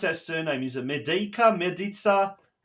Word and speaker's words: Medica: Well, Croatian way, you'll say Medica. Yeah. Because Dad's Croatian, Mum's Italian. Dad, he came across from Rijeka. So, Yep. Beautiful. Over here, they pronounce it Medica, but Medica. the Croatian way, Medica.